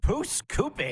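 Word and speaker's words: Pouce Coupe: broadcast, and I never get your hometown properly pronounced. Pusacoopi? Pusacoopi.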